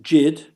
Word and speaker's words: Yid: ethnonym of Yiddish origin whether pronounced jid rhyming with did some have perceived it